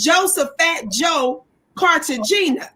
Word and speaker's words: Cartagena: It says Joseph Fat Joe Cartagena. Is that how you pronounce his name, y'all? No, it's Cartagena.